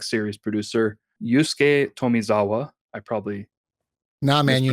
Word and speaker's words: Tomizawa: The producer for this game and also just the general Tales like series producer, Yusuke Tomizawa. I probably Nah, man, you mispronounced nailed that.